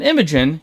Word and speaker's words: Imogen: with multiple lives seemingly on the line, and Imogen, yes, I learned how to say her name correctly, doing her best Akira reenactment in the middle of Bassaris.